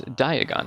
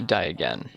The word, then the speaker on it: Diagon: Now remember, you gotta say it right, otherwise you end up in a Knockturn alley. It's Diagon, not Diagon.